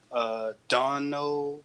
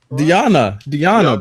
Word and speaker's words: Deonna: Dono Purrazzo, how do you say that again? Deonna, bro.